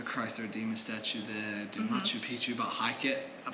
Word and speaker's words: Machu Picchu: okay Harry wants to go why to hike nacho Peach how do you say it Machu Picchu Machu Picchu there you go yes yeah I'd